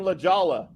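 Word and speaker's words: La Jolla: San Diego they're in lajolla they're the whole year you know what when they learn to say it right then they'll sound like me because it's not there's no h anywhere in there did you see what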